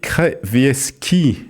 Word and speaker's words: Krawiecki: et nous sommes pour en parler avec Krevieski. Est-ce que j'ai bien prononcé?